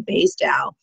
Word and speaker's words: Basedow: have it perfect um basically it's baseball and Dow Chemical put them together Bas out B love